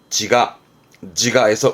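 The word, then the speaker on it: 自我: 발음은 지가에서 의무는 가로 가고요.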